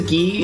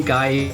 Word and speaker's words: Guy: His name is Guy if you're Canadian, Guy if you're American, how you want to pronounce it.